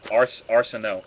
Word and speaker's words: Arceneaux: Yeah, I have to phonetically Arceneaux. So like you said, Arceneaux and then no.